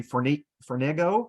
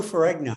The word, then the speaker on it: Ferrigno: uh Lou I don't know if I can pronounce his last name correctly for nego the guy the man who played Incredible Hulk oh Lou Ferrigno yeah rigno um and that he uh he